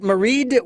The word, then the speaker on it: Maighread: By the way, is that Maighread with a D at the end or just? I pronounce it with the D, but Okay.